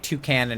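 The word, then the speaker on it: Toucannon: but and then like two Canon is two Canon because he's a cannon and a toucan that one in hindsight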